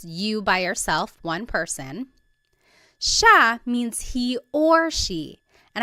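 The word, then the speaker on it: siya: It looks like it should be pronounced sia, but it's actually pronounced sha sha. There are some regions in the Philippines that might pronounce it sia, but for the most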